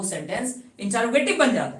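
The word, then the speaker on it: interrogative: इसलिए प्रोनाउंसिएशन को थोड़ा क्लियर कीजिए और बोलिएगा इंटरोगेटिव।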